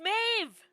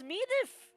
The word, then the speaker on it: Maeve: That's pronounced Maeve! That's pronounced Maeve! I would have pronounced it as Medif! Or something like that.